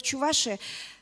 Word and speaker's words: Чувашия: Так вот, Чувашия, правильно ударение сделала, являются основателями Полесского района.